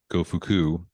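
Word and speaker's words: Gofuku: you actually I'm sure it's pronounced go fuku g-o-f-u-k-u but again really really inappropriate uh and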